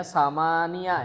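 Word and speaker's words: ثمانيَ: Ini dibacanya samania ya, samania asrota talibatan.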